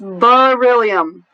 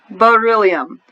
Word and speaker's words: beryllium: this word here beryllium it's that II should make a long e sound because it's an open syllable right and this word based on their roots it doesn't right it's beryllium beryllium all right the next